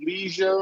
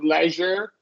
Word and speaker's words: leisure: Leisure seizure good okay now you will hear from time to time people say Leisure or Leisure either's correct you know however you want to do in terms of The Vow sound uh what doesn't change is leisure Leisure right the jure stays the same Leisure Leisure yeah yeah